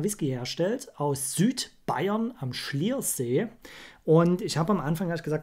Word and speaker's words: Slyrs: Ob das Sliers, ich wollte immer Sliers. Sagen. Es wird wohl aber wirklich Schliers ausgesprochen. Hoffe ich.